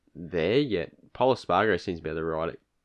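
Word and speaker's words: Espargaró: Espargaro? Yeah, that's how you say it, Espargaro.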